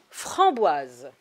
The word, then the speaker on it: framboise: ça ça s'écrit frambois pour que le s il se prononce on a besoin du e muet framboise maintenant je l'écris en